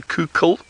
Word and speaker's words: Coucal: And it's spelt Coucal. Some of you might have thought it's I said cuckoo. It's not a cuckoo, it's a Coucal.